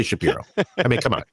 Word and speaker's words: Shapiro: pronounce his own name he pronounce his Shapiro it's really Shapiro I mean come on